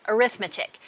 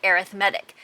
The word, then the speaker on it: arithmetic: right here, when used as a noun, we pronounce arithmetic. But if it's used as an adjective, as it is in this case, we pronounce it arithmetic.